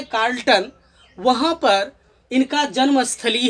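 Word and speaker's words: Charlton: अब देखिए, यहाँ पर एक दिया हुआ है कार्ल्टन, यहाँ पर CH का उच्चारण क के तरह करेंगे, कार्ल्टन, केंट और इंग्लैंड।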